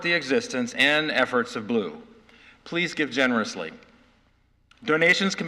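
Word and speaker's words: BLUU: the offering today will be shared with blu pronounced blue, which stands for black lives of unitarian universalism.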